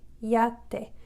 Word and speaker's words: yate: pretend it sounds just like the Spanish I, E, and then the A sound together, iate, iate, yate. So it ends up kind of sounding like a Y, but actually the Y is pronounced like an I, which is the E sound, E, iate.